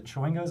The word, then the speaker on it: Chwingo: The Chwingos, am I pronouncing that correctly?